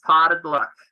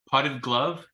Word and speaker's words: Potted Luck: It is Potted Luck Landscape. What is it? How do you say it? Potted Luck. Potted glove? Luck. Luck.